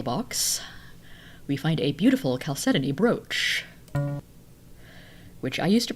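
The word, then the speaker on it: chalcedony: in this special box we find a beautiful caleton brooch which I used to pronounce as chalcedon before I knew better so we've got caleton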